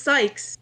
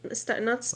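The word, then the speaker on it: Cykes: Because whenever I heard people dubbing it, I never heard them saying it's Sykes, like not Stikes.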